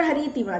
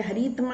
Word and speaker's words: हरितिमा: यत्र हरितिमा, जहाँ हरियाली है, हरितमा नहीं होता बेटा, हरितिमा है, लेसन स्पेलिंग मिस्टेक है, थोड़ा सा इग्नोर करिएगा।